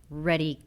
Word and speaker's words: Redi: We're going to be talking about Redi packs. Did I say it right? Readiness. Packs? Readiness. Readiness. Getting ready.